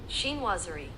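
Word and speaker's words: chinoiserie: Sheenwazerie.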